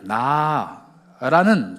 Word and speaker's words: 나: 그 명령 뒤에 히브리어로 나라는 접속사가 붙어 있습니다. 발음이 그냥 나예요.